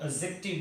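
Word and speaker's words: adjective: ठीक है जी, एडजेक्टिव, D silent रहता है तो एडजेक्टिव बोलते हैं इसे, राइट।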